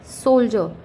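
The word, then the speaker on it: soldier: एज, सोल्जर, word use हो रहा है डी आई ई आर, बट स्वर आ रहा है, साउंड आ रहा है जे का, सोल्जर।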